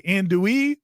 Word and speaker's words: andouille: you want your registered sausage they got the andouille which is the proper pronunciation right somebody mentioned that Timmy said they